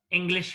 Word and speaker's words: English: English has two syllables. English. What is the first syllable here? Eng. So the stress is laid before the first syllable. It means before the letter E.